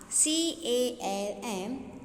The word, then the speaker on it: calm: CALM, calm. See here, students. Here also L is silent.